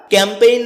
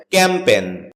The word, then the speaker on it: campaign: এটাকে আমরা ক্যাম্পেইন বলে থাকি। যার সঠিক উচ্চারণ হচ্ছে ক্যাম্পেন। এ শব্দটি বাক্যে নাউন হিসেবে ব্যবহৃত হয়।